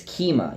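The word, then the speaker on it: Keemia: some reason I don't I'm not good at pronouncing her name what is it kima its kima yes that's why I wrote it down and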